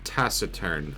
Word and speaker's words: taciturn: hold on tacern okay it is pronounced taciturn according to Google and that is according